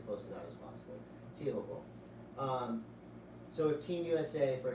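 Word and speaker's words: Teahupo'o: Surf at Tiahupo. And I changed my pronunciation. You know, I think everyone has. It's really weird. I'm just going Tiahupo from now on. Tiahupo.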